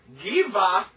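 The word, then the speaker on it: גבעה: No dagesh means it softens the sound. So this is a V, so give, ah.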